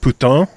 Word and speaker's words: putain: like it's it's the same basically here what puton yeah puton yeah there you go puton there